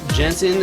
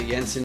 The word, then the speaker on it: Jensen: I'm joined today with Jensen. Is that right? Is it Jensen? It's not Jensen. It's not saying. Did I pronounce that right? It is Jensen. Yes.